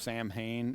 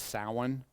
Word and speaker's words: Samhain: So if you look at this one, which looks like it's pronounced Samhain, it's Samhain. Okay, that happens on November 1st.